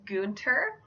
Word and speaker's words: Gunther: alternative i have is Gunther Gunther is a German name that means war army this name it can also be pronounced goonter and this name is